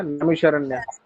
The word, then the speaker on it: नैमिषारण्य: चलो, तो नैमिषारण्य है, गलत प्रोनाउंस कर दिया, नैमिषारण्य है ये।